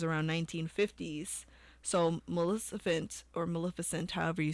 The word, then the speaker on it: Maleficent: on the list but Disney's mif ment Maleficent Maleficent I think that's how you say it with Angelina Jolie so